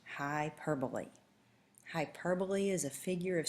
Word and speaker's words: hyperbole: Hyperbole is pronounced hyperbole. It is not hyperbole. It is pronounced hyperbole.